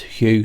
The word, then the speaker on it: Hu: Now, you spell it H-U, Hu, but we say it as Hu, H-W-H-O, but it's actually like that with the breath.